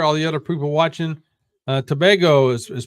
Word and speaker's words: Tobago: Tobago is pronounced Tobago.